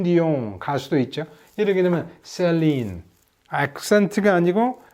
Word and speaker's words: Céline: 그렇다고 해서 이거는 영어 액센트처럼 세게 읽으라는 것이 아니고 이거는 이를 A로 읽는다면 원래 발음대로 이거는 슬린 이렇게 되는데 이거는 셀린 이렇게 발음을 하라 이 말이죠.